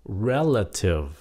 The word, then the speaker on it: relative: dụ cái chữ này các bạn nhấn âm ở chỗ nào relative hay là relative hay là relative hay là bốn cách phát âm Hên xui thật ra đúng nhấn âm là nhấn âm m relative relative tại sao